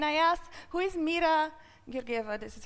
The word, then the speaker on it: Georgieva: I was and I asked who is Mira mirgiver this is how my name is pronounce um from zoiper and vanafo and it